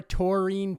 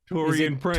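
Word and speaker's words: Taurean Prince: Brian I'm looking at the NBA phonetic pronunciation for that I got Tor e n oh you know what Toran Prince not t toine is in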